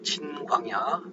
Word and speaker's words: 진광야: 근데 둘 다 이제 신광야라고 한글로는 저렇게 되어 있지만은, 저 위에 민수기 지역의 신광야는 진광야입니다. 진광야. 영어로는 진광야입니다. 진광야. 영어로는 틀립니다. 그래서 강하게 세게 발음하면 찐광야가 되죠.